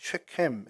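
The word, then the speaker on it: שכם: 될 수 있는데요 어 세금이라는 이제 발음은 이제 정확히 최햄 해 가지고 목덜미 어깨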